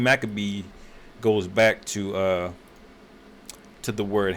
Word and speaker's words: Maccabee: But that's how Makwabat, you know, is how you would say it in the Hebrew. But in the Greek, you know, it was, you know, when they translated it back to English, they pronounced it Maccabee. All right, with two C's instead of the Q sound.